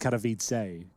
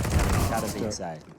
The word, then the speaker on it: Katowice: I think it's pronounced Katowice, guys, Yeah. just to be clear. Yeah, Katowice.